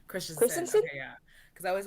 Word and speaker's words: Christensen: I always want to say Christian. I know it's Christensen.